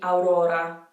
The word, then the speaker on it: Aurora: such a pretty name it's actually kind of hard to pronounce in english because of the r's it's aurora i can't even say it aurora in italian aurora in italian the next